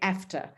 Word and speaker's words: AfCFTA: so i was like do i say aceta after um a ifcta and i was told that i can say after so i'm going to